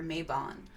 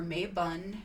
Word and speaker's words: Mabon: so here we have a couple of names of pronunciations for mabon so it's mabon or may bun may bone ma boon or mabon and then it's also there's